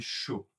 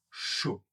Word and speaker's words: chaud: Attention aux dernières lettres qu'on ne prononce pas.